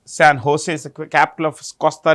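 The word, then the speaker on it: San José: The capital is San Jose. If you want the capital, San Jose. Okay. See, J is pronounced with an H. San Jose is the capital of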